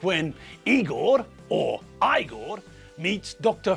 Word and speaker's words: Igor: you must be Igor now it's pronounced I Gor but they told me it was eager well they were wrong